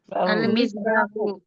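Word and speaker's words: المصباح: লাগিয়ে বলি দেখি আল মিসবাহু।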